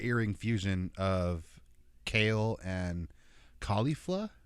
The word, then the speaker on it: Caulifla: fusion of kale and caulifla is how you pronounce her name khalifa caulifla there's a l at the end not khalifa um their names are supposed to be from kale and cauliflower because they're saiyans so they're